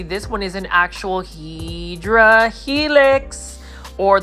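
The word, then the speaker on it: Hedera helix: And you can see this one is an actual Hedra helix or the correct way to say it is English ivy or hyera helix.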